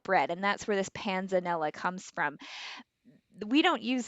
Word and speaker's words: panzanella: nephrologists all day long but how do we pronounce what we're going to learn how to make today so it's panzanella so panzanella is an italian bread salad it's